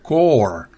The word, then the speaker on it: corps: usted y recuerden memorice ni la p ni la s se pronuncia se pronuncia Core significa cuerpo asociación y